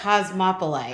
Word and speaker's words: cosmopolite: right everyone's always like it's cause mop o light cosmopolite like cause negative like Cosmopolitan but it's cosmopolite oh Cosmopolis yeah so